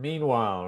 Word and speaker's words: meanwhile: Now the stress is on the first syllable in meanwhile.